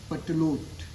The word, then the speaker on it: Pertelote: तो उसकी 7 पत्नियां थीं, एंड his most favourite was पटलोट। Her name is पटलोट। The spelling is PERTELOTE।